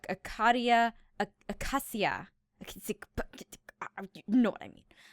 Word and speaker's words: Acacia: So let's do, and I've been mispronouncing this too, Acacia.